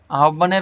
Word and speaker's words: আহ্বান: উচ্চারণ, আহ্বান, আহ্বান, আহ্বানের উচ্চারণ আহ্বান।